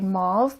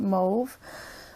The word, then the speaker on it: mauve: I know in the US or other places you say mauve, but in Canada we pronounce it mauve.